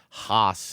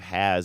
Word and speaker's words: Haas: You know, the phone already has me trained to say Genevieve Haas instead of Genevieve Has, even though she pronounces it Has, which I kind of resent a little bit.